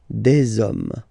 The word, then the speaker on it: des hommes: You don't pronounce it, so you get des hommes, des hommes, des hommes.